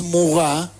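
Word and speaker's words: Maurras: que era alemán y charles muga que era francés se escribe maurrás por si lo quieren buscar en internet no existe un solo nacionalismo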